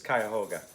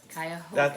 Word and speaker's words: Cuyahoga: and we kept, it's spelled similar, and we kept wanting to call that Cuyahoga National Park, but it's Cuyahoga. Cuyahoga.